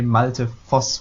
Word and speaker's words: Malte Voss: joined by is it multi of yo-yo almost perfect in Germany may say multi force with like an F sound for the last